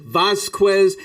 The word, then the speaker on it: Vasquez: I gave him like 4 possibilities for how to pronounce it. Is it Vasquez? Yep. Vasquez.